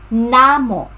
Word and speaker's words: namo: Okay, so pronunciation, Namo. So the stress is on the first syllable, Namo.